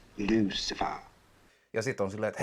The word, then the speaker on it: Lucifer: Actually, it's pronounced Lucifer.